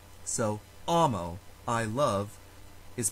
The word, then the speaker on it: amo: follows very regular rules if a word has two syllables it is always the first syllable that is stressed so amo i love is pronounced ah mo for longer words the